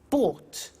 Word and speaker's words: bought: to the pronunciation bu bought you notice that o u g HT is pronounced ought buy bought come came